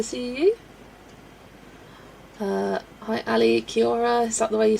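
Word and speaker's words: Kia ora: I'm like, Kia or it's not that. It's Kiora. There less syllables than you think.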